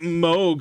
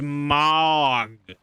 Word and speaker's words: Mog: yeah so pronunciation like it's not moog it's mog nope i'm sorry it is mogu you can call him